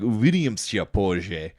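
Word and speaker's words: Увидимся позже: I was saying it wrong. It's like "Uvidimся позже."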